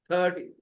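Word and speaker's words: thirty: No need to stress the second part. Only stress the first part. 30.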